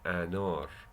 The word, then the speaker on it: anar: A, like in the word anar, anar, anar. Anar is pomegranate. See, anar. You probably, if you speak English as your first language, you would pronounce it like anar. Anar. It's okay. Everybody knows anar is anar. So don't sweat it. It's okay. But it's anar.